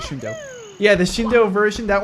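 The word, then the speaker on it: Shindou: lines and sounds, and the Shindu version, Shindo, I'm going to pronounce it Shindo.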